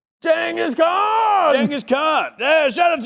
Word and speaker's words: Genghis Khan: The correct way to pronounce his name. Genghis Khan!